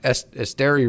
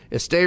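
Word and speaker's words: Esteury: you have you have Estster Ruiz um Estster Ruiz. I I never get that name right. Esti Ruiz is actually how you say it.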